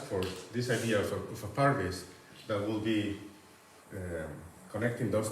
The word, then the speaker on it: parvis: tradition of Christian architecture, which is called Parvis, P-A-R-V-I-S. Sometimes it's spelled with a final E, because it comes from Latin parvise, paradise.